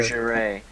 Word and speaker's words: lingerie: Lingerie. What? Lingerie, that's what it's pronounced, lingerie.